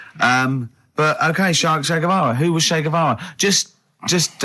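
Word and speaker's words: Guevara: Shay is like shake and his his surname is like guitar, right? Shavar.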